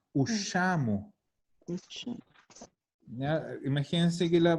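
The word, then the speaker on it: usciamo: desaparece la I. No es ushiamo, es ushamo.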